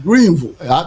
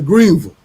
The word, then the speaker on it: Greenville: You can't say Ville. It's Greenville. I'm from the East Coast. We say Ville here. Yeah, so well, I'm from Texas. It's Greenville.